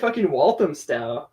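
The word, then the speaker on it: Walthamstow: yeah so you were in walam sty which I finally figured out that's how you pronounce it which is like far northeastern part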